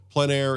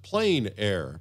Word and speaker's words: plein air: PL a painting for those who don't know PL a in French essentially means Outdoors the French pronounce it PL a others pronounce it plain air but no matter what you call it there